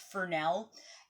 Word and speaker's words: Fresnel: l it's it's spelled like fresnel but it's pronounced Fel and these are actually quite good at giving